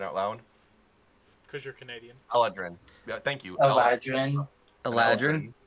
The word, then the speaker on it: Eladrin: I don't know why I can read it in my head, but I can't pronounce it out loud. Because you're Canadian. Eladrin.